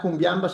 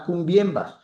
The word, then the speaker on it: cumbiambas: ahí está el francés, deformando la pronunciación, ¿no? las cumbiambas, sino las cumbiembas. Sí, el sonido ese en francés, es con e, eh, y habla otra